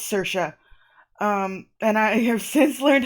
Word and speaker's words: Saoirse: Ah, Saoirse! Okay, that's right. Yeah, because I couldn't remember, I didn't know at the time how to say that, Saoirse, and it's Saoirse.